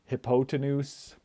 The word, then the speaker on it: hypotenuse: Um, I put a picture of a hippo here because, you know, it kind of looks like hippo hypotenuse or hypotenuse, but it is pronounced hypotenuse.